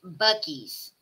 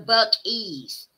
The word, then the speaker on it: Buc-ee's: Pronounced Buckies. No, Buckies.